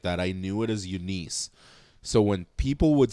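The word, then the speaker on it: Eunice: It's like Denise.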